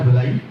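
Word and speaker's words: villi: हैं, they are called विलाई। विलाई में आगे फिर से फोल्ड होते हैं, दे आर कॉल्ड माइक्रोविलाई, या कहीं प्रोनाउंसिएशन विली एंड माइक्रोविली रही है।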